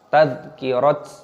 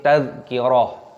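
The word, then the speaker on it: تذكرة: Tak marbutohnya ketika berhenti maka dibaca ha, bukan dibaca tadhkirat, nah, seperti itu. Tapi tadhkirah.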